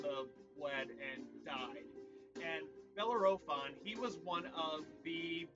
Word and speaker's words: Bellerophon: the greek hero um bellerphone i believe that is what his name is his name is hard to pronounce um bellerophon actually my apologies bellerophon so belarophon he was riding